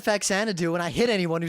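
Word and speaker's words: Faxanadu: who said anything else the correct pronunciation and this is actually something I learned here is you know zanadu like you know the mansion and Citizen Kane and DDR song only with a fa in front of it fanu fanu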